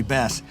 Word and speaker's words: Bas: One S, by the way, otherwise it's Bas. A lot of people pronounce it Bas, but I'm not a fish.